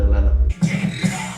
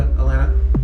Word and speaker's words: Atlanta: if you go to atlanta and you want to blend in you cannot pronounce the t's it's a dodo okay